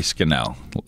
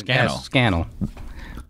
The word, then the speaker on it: Scannell: I said uh skel I say your last name correctly close enough how do you say it uh think of Channel without the just put scannel really yeah okay it